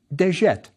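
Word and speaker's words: djet: This word was pronounced deette and means eternity or everlasting.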